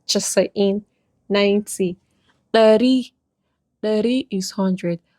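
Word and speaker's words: casa'in: Chasa'in, chasa'in, even though it's kasa'in and the spelling, but pronunciation is chasa'in 90.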